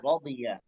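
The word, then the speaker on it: رضي: তাহলে এই শব্দটা হচ্ছে রদিয়া, উচ্চারণ কি? রদিয়া, রদিয়া, রাদিয়া। রদিয়া। নরমালি রাদিয়া। দিয়া বলে না, রদিয়া, একটু মোটা করার চেষ্টা করতে হবে।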